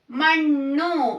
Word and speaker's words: ಮಣ್ಣು: Next one is sixth one, Mannu. Mannu means soil. Okay. Mannu. Gunitakshara changing. Nu. But consonants na only. So the pronunciation nu. Mannu. Mannu means soil. Okay. Mannu means soil. This is ma-nu.